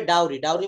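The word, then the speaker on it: dowry: চায় যৌতুকও চায় he want beautiful girl এটা উচ্চারণ হবে ডাউরি মানে হচ্ছে যৌতুক প্রথা যৌতুক তারপর পড়েন সে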